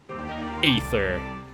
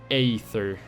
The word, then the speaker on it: Aether: believe it's called ether like ae is supposed to be kind of be like a long e but it's really weird it's like it's like aether something like that i don't know